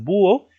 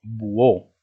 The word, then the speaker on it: búho: Tú pronuncias búho o pronuncias buó. En tal caso, si tú dijeras buó, ¿de acuerdo? Se acentuaría la O por reglas generales, por ser palabra aguda. Pero en este caso, búho, ¿de acuerdo?